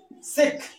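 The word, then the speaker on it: chic: सिख, सीख, सीख में होता है ठाठ।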